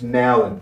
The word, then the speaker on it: Nowlan: You can't get Nowlan right. So it's Nowlan.